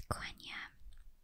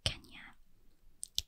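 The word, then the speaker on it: Quenya: the rings they have i believe it's konya are pronounced kenya and they have cindering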